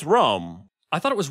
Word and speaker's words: Rome: It's Rome. I thought it was Roma. Oh. How do you pronounce it? It's just spelled like Rome, like the city.